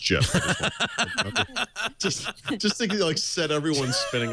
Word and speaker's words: GIF: And so this morning, in response to someone else's tweet I wrote, just as a reminder, the GIF graphics format is in fact pronounced GIF.